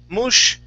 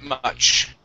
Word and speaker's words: much: Okay, instead of mush. Okay. Much. Yep, pronounce that CH, much.